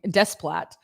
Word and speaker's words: Desplat: How do you say his name? I don't know how to say his name. Desplat.